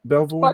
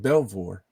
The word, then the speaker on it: Belvoir: Did I pronounce that right? Belvoir? Fort Belvoir, yep.